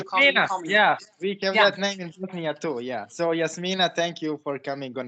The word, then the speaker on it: Jasmyne: the way um because i kind of say jasmine but it's yes mina but it doesn't really matter i don't care what you're calling me yeah yeah so yes mina thank you for coming